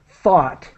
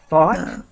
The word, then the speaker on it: thought: me help you with thought thought um yeah I I hope that people see that the I'm trying to the pronunciation is like the word hot but with th thought thought thought so